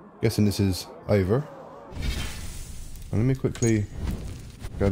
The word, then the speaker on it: Eivor: I was pronouncing it right. Eivor.